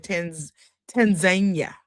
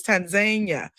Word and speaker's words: Tanzania: of the country of Tanzania is what they pronounce it in. We were over there saying Tanzania, and they was like, it's Tanzania.